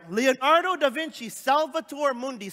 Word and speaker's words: Salvator Mundi: right leonardo da vinci salvatore mundi say that with me salvatore mundi come on i'll say like say it like with an accent salvator mundi who they gave me